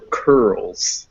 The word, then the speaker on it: curls: go straight from the k or the p sound into that er. There's no real vowel in between them. It's just cur.